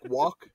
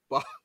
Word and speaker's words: balk: So it's balk like a chicken box.